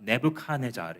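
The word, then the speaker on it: Nebuchadnezzar: 느브갓네살 왕에게 바빌로니아의 아 네브카네자르 이렇게 영어로 발음하죠.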